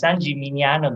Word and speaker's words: San Gimignano: to pronounce it right you can also say some parmigiano if it helps you some parmesan over here anyways sanji mignano beside being a beautiful